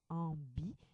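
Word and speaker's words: ambiguë: habituellement devant un i ainsi grâce au tré on prononce ambigé on entend la lettre U donc le tréat est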